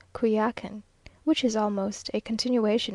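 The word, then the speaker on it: Coyoacán: in the morning to kakan now pronounced kuyakin which is almost a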